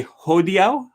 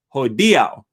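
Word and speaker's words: hodiaŭ: i can recall like i used to say ho diao for today um the word today in esperanto um and it's not ho dia ho diao i don't remember what i would say but at least three or four times rafa commented on my videos he says it's not ho dio it's ho diau and uh it took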